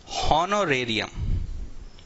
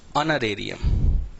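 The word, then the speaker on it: honorarium: एक वर्ड होता है हॉनोरेरियम, कई लोग इसको पढ़ते हैं हॉनोरेरियम, ठीक है, कई लोग इसको पढ़ते हैं हॉनोरेरियम, जबकि इस वर्ड का एक्चुअल प्रोनाउंसिएशन उच्चारण है ऑनरेरियम।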